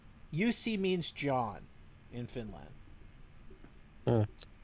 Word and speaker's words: Jussi: Jussi. Jussi means John in Finland.